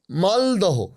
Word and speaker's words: মালদহ: যেমন ধরুন এই যে শিয়ালদহ আমরা বলি শিয়ালদা খরদহ খরদা মালদহ মালদা হোডিং মানে শিয়ালদা মালদহ এগুলো তো হোডিং এ বড় বড় করে লেখা আছে।